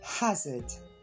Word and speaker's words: hazard: Hazard. Et on regarde sa prononciation.